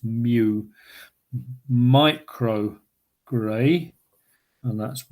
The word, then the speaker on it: mu: It's a Greek letter, and it's pronounced mu.